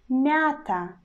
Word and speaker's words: мята: We pronounce it like мята. So our consonant becomes soft, and we already do not pronounce consonant Y, which were in the two sound letter ya. We pronounce just мята, мята, мята.